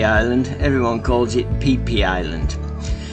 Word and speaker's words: Phi Phi: And it's not pronounced how it's spelt, Phi Phi Island, everyone calls it Phi Phi Island.